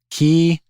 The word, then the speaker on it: Kii: anyway audio 3 pro key 3 pro key is spelled K i i kiii that's the name of the brand of speaker you should